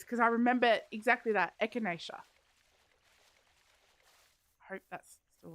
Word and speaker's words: Echinacea: Echinacea. Yes. We did cover this because I remember exactly that. Echinacea.